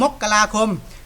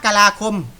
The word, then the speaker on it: มกราคม: ทำไม ถึง ออก เสียง มกราคม บาง ท่าน บอก ว่า เ ออก เสียง ก็ อะไร นะ มกรา มกราคม นะ ครับ มัน ออก เสียง ได้ 2 แบบ ครับ มกราคม หรือ มกราคม ก็ ได้ ครับ ไป หา ใน อินเทอร์เน็ต